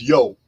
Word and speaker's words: Io: worshippers of IO I IO is actually pronounced yo they were worshippers of